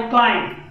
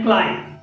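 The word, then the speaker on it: climb: त्याच्यानंतर आहे क्लाइम, प्रोनाउन्शिएशन आहे क्लाइम, क्लाइम मध्ये चढाव करणे किंवा चढाई करणे असा त्याचा अर्थ आहे.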